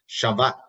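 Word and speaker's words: שבת: Well, the word Sabbath, or in Hebrew, is you pronounce it as Shabbat, okay? The B is a V rather than a B, Shabbat. It means to cease, to end, to rest.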